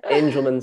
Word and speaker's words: Angelman: background amanda became ceo of the angelman or engelmann sorry if i'm pronouncing it angelman adrian yeah angelman syndrome foundation in 2019 uh before that she